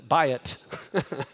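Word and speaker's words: בית: what buy it right that's how you pronounce this a buy it okay buy it means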